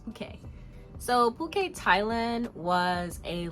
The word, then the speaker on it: Phuket: discuss my second week in puket Thailand it's pronounced puket uh it's not fet it's not it it's puket let's let's get that out the way right now it's puket so puket Thailand was a last minute in